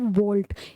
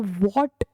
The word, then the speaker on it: वोल्ट: इसको हम बोलते हैं वोल्ट, या तो बोलते हैं जूल पर कूलम, या फिर बोला जाता है वोल्ट। इसको वॉट प्रोनाउंसिएट नहीं करना है, इसको वोल्ट प्रोनाउंसिएट करना है, क्योंकि वॉट जो होती है आपकी पावर की यूनिट होती है।